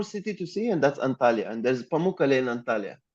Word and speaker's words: Antalya: It's Antalya, and you spelled Antalya in the Greek way. It's spelled a little different, but it's fine.